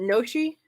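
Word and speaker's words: gnocchi: one with the G is it noshi is the G silent I think it is that's made of the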